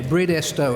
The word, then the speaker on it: Bridestowe: it is breed esto repeat after me breed esto estate but now meant many